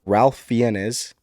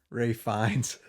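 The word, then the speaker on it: Fiennes: Shalom a complete unknown Coleman Domingo Sing Sing Ralph fenes conclave Ray fines oh is that how you pronounce that yeah oh well that's not how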